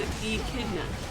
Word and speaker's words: echidna: oh, it's pronounced echidna.